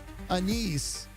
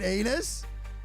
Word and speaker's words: anise: I was watching a baking competition show and the lady was telling the judges she used anise in her cake but pronounced it anus and the judges were like you use what and she said anus.